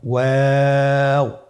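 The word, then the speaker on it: و: আমরা স্ক্রিনে দেখতে পাচ্ছি ওয়াও হরফটি উচ্চারণের ক্ষেত্রে বারিক হবে এবং 3 আলিফ টেনে পড়তে হবে। আপনারা আমার সাথে বলুন ওয়াও ওয়াও। 2 ঠোঁট গোল করে মাঝখানে ফাঁক রেখে হরফটি উচ্চারণ করতে হবে।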